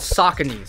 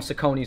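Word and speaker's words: Saucony: let me just as a these are called sakon yes that's how you pronounce it I used to call them sakonis for the long time so did I this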